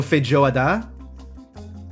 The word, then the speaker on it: feijoada: The emphasis is on the last syllable. So feijoada.